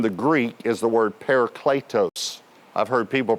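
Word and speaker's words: παράκλητος: Now this word helper uh in the Greek is the word paricletos. I've heard people pronounce it paracletos but correctly it would be pronounced paricletos.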